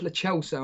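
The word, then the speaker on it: Lo Celso: Sorry, that's how you pronounce it. It's Le Celso.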